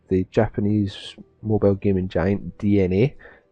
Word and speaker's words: DeNA: japanese mobile gaming giant dna which is spelled weird it's d-e-n-a so it has pronounced dna though so what they are